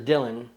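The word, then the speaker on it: Django: The loud one out there is Dylan. D-J-A-N-G-O. The D is silent.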